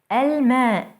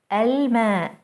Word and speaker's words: الماء: Let's try to pronounce some words that start with an L followed by a moon letter. الماء, الماء, the water.